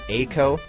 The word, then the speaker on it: A.COE: which is Quicksander by Aco. I think that's how you say it. All caps, it's A.COE.